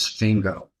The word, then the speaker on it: Fingo: "My name is Fingo, dear lady. Rhymes with Ringo.